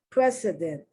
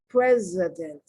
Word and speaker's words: precedent: pronounced incorrectly president president i have to be very conscious of the way i'm pronouncing the c not to see so much but the s when it's pronounced like a z precedent and for for love